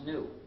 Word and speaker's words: gnu: And the reason is because according to the dictionary, the G is silent and it's pronounced new.